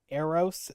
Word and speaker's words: Eros: And that brings up the other one, which is Eros. Is that what you how you pronounce it?